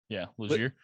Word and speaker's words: Legere: Yeah, so this week we're gonna be covering Allan Legere, right? That's how you pronounce it? Yeah, Legere.